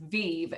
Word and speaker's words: Viv: Well, before you joined this presentation tonight, you might have said Viv or Vive, and we'll forgive you once. But now that you know how it's pronounced, it's right there on screen. It is Vive, V-E-E-E-E-E-V. And it's a verb.